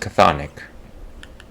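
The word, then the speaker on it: chthonic: track down local Sonic keys so they're pronounced cathonic could have fooled me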